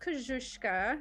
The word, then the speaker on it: Koscuiszka: Yeah, so it's pronounced Koscuiszka.